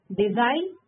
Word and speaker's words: design: Design G silent.